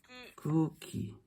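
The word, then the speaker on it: 空気: 자, 공기는요, 쿠우키가 아니라 쿠우키. 길게 늘려주시면 됩니다. 따라해볼게요. 쿠우키.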